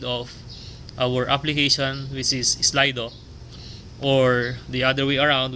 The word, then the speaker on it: Slido: of slido okay so using slido that would be pronounced as slido an easy to use